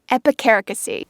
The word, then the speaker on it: epicaricacy: Epicaricacy. Aha, epicaricacy.